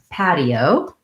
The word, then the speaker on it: patio: the word patio astrid that has the flap t in the middle like we were talking about in class this week where it sounds more like a d so i'm gonna have the ah vowel that's our black cat the open f path so just like the word pad pid pad and then the eo